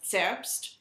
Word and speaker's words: Zerbst: The Z is pronounced with a TS sort of sound. So Leipzig, or Zerbst, or Zwickau.